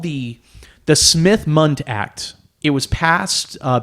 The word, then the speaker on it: Smith-Mundt: is it um so it's called the the Smith Mund act it was passed uh back in 1945